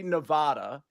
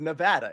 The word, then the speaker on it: Nevada: I always do this I always say Nevada instead of Nevada and I understand that all nans if that's what you call it say Nevada I think you all say it wrong I think it should